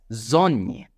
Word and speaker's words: Sonne: Then we have S, and it's gonna be pronounced as Z in German. For example, as you can see the word on the screen, it's gonna be pronounced as Sonne, Sonne.